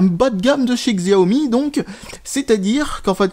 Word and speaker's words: Xiaomi: Xiaomi, en tout cas pour Xiaomi, si vous préférez cette prononciation. En tout cas, moi, je prendrai plutôt la prononciation Xiaomi parce que c'est comme ça que ça s'écrit.